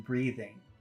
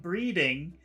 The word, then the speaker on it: breathing: language they they have a problem pronouncing the th sound in breathing so when she was talking she was saying number two can you see that number one and number two number one is breathing and number two is it's a word it's a different word but it's breeding and breeding number two breeding with a d breeding means making